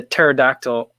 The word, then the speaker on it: pterodactyl: Why can't you hear the pterodactyl go to the bathroom? Because the P is silent.